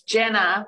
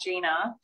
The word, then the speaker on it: Jenna: It's Jenna, not Gina.